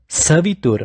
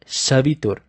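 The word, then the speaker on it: सवितुर्: Savitur, not Shavitur.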